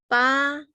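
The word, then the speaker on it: pab: So the pronunciation of the word here is ba. Ba is help. So ba, P is the consonant. A is the vowel. B is the tone.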